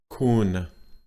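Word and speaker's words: คุณ: Flat tone, kun, that's your normal voice. Ma, kun ma.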